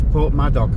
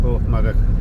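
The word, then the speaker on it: Porthmadog: So the Americans who eaten it will think would read it as Port Madok but we pronounce it Port Maddock part of the railway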